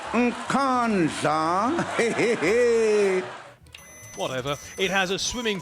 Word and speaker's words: Nkandla: How do you pronounce it? Nkandla. Nkandla. Nkandla.